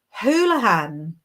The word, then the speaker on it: Houlihan: Its pronunciation is Houlihan, Inbaal. Now you know. I would never have guessed that. Thank you so much. I was reading it in such an anglicized way.